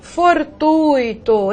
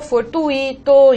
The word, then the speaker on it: fortuito: Há pessoas que pronunciam gratuito, fortuito, intuito, cuidado. Essas palavras não são hiato, né? Não tem pronúncia tônica do I, pelo contrário, elas são ditongo, e o ditongo aqui no caso mostra, o I é semivogal, ok?